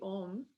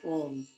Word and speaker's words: Om: So how we say Om, we open our mouth, we pronounce the O and the together. So it sounds like Om.